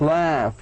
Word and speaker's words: laugh: You pronounce it as a T. GF like laugh يضحك.